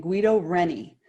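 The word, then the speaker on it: Guido Reni: guido i think you should say his name guido rennie all right so this is a really really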